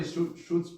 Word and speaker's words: chutzpah: So that is surely chutzpah on a great scale. It was an Oh, it's pronounced chutzpah.